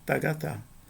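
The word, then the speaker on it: τἀγαθά: um iato aqui, ah, vai haver uma fusão entre os dois a a n os dois alfa. E o resultado vai ser esse aqui, tagatá.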